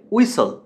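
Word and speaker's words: whistle: হুইসল বলি আমরা বাট উচ্চারণটা হবে উইসল। এই শীষ দেয়ার ইংরেজি হচ্ছে উইসল।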